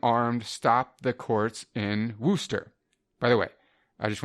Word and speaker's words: Worcester: of our previous episodes, I said Worcester. Apparently that's incorrect. I'm not up on my East Coast pronunciation. It's Worcester, and I now know that.